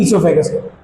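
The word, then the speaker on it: oesophagus: इससोफेगस। वो साइलेंट होता है। इससोफेगस पे पढ़ा जाता है।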